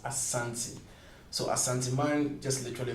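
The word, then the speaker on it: Asante: Ashanti is just that's the actual pronunciation.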